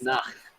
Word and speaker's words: Nacht: it's Nacht.